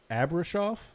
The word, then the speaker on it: Abrashoff: title um is your ship captain d michael abrashoff is how you pronounce it management techniques from the best damn